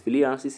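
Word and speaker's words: filariasis: Fyianis is spelled f i l a r i a s i s is caused by kullex mosquito.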